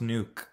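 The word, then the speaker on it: Nuuk: It's pronounced nuke.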